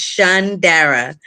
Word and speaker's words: Shondara: But by the end of this, you will definitely remember it and pronounce it. It's Shondara. I got you.